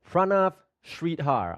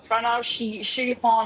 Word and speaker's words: Pranav Shreedhar: 21-year-old Pranav Shridhar. I really hope I pronounced your name correctly.